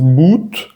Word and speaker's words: but: Lo vemos en la palabra, por ejemplo, but. No es but, sino but. Se siente como la diferencia en la U.